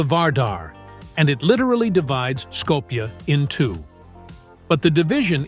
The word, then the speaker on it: Skopje: the capital city of Skopje in the north. While Muslims pronounce it Uskup, the city is widely known around the world as Skopje.